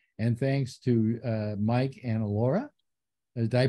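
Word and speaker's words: Elara: And thanks to Mike and Alora. Did I pronounce it correctly? Alora, you bet.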